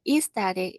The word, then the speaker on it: aesthetic: 네, 이거는 aesthetic이라고 읽기도 하고요. 영국에서는 aesthetic 이렇게 발음하기도 합니다.